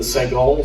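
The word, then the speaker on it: סגול: We learned the segol, 3 dots in a downward facing triangle, and it gives us what we call in English the short E sound, like the E in egg.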